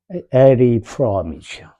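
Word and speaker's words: Erich Fromm: 에리 프롬이죠. 에리 프롬. C 발음이죠. CH가 원래 얘네 나라에서는.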